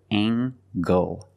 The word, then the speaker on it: angle: is a right angle use the nasal plus the hard G angle angle this is a